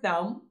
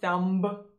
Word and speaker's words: thumb: of saying it and a quick note on pronunciation in the word thumb as you might have already noticed there is no but sound so it's not thumb no it's thumb and since the m is